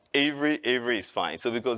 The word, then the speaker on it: Avery: name is Avery here in the US is pronounced Avery where I'm from originally probably if you've detected the asent I'm originally from Nigeria so in Nigeria is pronounced a but then I came